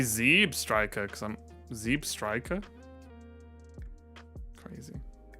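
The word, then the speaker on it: Zebstrika: poker clothes I say Zeb Striker cuz I'm Ze Striker crazy Zeb like zebra not Zeb Ash doesn't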